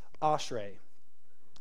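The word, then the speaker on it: אשרי: for it um this word as it is pronounced is ashrae yeah it's fine it's it's fine everybody can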